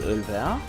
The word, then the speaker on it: Ölwer: Da ist Ölwer. Wer vor allem. Betonung liegt auf Wer.